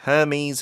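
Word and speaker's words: Hermès: H 발음을 안 하더라고요. 그렇죠. 이게 이제 불어니까 오늘은 그다음에 샤넬은 뒤에 강세주고넬 이렇게 발음을 합니다. 자, 첫 번째 문장 다시 한번 드릴게요. Luxury handbags from brands like Hermes and Chanel have potential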